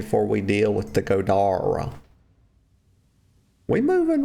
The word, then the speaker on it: Goda: all these words incorrectly his name is not God it's God okay that E is pronounced like an A don't ask me how